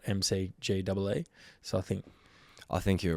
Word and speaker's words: McGee: his first release, 2018, I think it was, is called Pronounced McGee, spelt MCGEE.